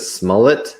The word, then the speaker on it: Smollett: Is it Smollett? Is that how you pronounce her name?